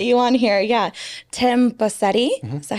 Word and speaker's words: Bosetti: Tim Bosetti. Mm-hmm. Is that how you pronounce it?